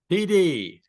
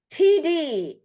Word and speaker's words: Tiede: T, how do you pronounce it, by the way? I know you wrote it out for me. TD. TD.